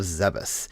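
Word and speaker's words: Zebes: brings Samus back to their home planet of zebus and yes that is how I pronounce it no I do not care to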